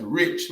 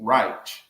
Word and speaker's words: Reich: of David Emil Reich I believe I pronounced it incorrectly the first time as rich but it is David Emil Reich right he is a